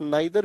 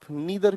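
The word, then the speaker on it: neither: मजा आया कि नहीं आया, दोनों प्रोनाउंसिएशन ठीक है, आप आइदर भी कह सकते हैं, ईदर भी कह सकते हैं, आप नाइदर भी कह सकते हैं, आप नीदर भी कह सकते हैं, दोनों उच्चारण सही है।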